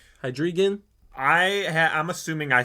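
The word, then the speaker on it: Hydreigon: say this guy's name hydrogen hydrigan I I'm assuming I say it wrong every single time yeah it's just hide like H2O like hydrogen like that so it's hide and then region so hydrogen or wow I can't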